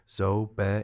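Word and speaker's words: ŻOB: She pronounces it carefully. Zo Be is ready.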